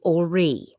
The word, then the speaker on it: Horry: This is the county where Todd, it's Ori. The H is silent.